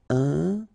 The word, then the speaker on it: important: So final T not pronounced. And then remember, you've got this EM, and after that it's a consonant, so it is here nasal. Important.